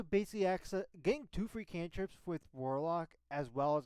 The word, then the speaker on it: cantrip: spell for you on a failure spell any canri you do not know cantrip cantrip I didn't say canri oh I was